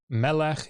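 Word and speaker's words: מלך: Melech is king. Notice it's a segelet. Melech, you get the penultimate stress, tone on the penultimate syllable.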